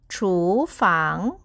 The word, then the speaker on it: 厨房: ที่ 2 ค่ะ ถู ไป ดู คำ ว่า ฟัง กัน นะ คะ มี F ค่ะ เสียง for เป็น พยัญชนะ สระ ก็ คือ ang ออก เสียง อัง ค่ะ วรรณยุกต์ เสียง เดียว กับ โฉ เลย นะ คะ ก็ คือ เสียง 2 ค่ะ มา ผ่าน กัน ค่ะ ถู ฝาง ถู ฝัง ก็ คือ ห้อง